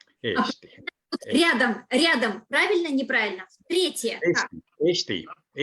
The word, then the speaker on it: Eesti: Eesti. Eesti. Тут надо следить, чтобы не было Eesti с коротким «э». Все-таки должно быть 2 «э», Eesti.